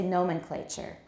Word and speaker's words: nomenclature: for giving things names josephine nomenclature but now we say nomenclature nomenclature the next one